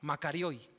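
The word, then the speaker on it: μακάριοι: Makarioi. Así se pronuncia, makarioi en el griego, ¿no?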